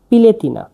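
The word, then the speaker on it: piletina: মুরগির মাংসকে সারবিয়ানে বলা হয় পিলেতিনা।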